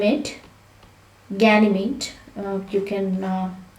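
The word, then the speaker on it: Ganymede: must remember one of them is name it ganymate you can pronounce it like that and this is the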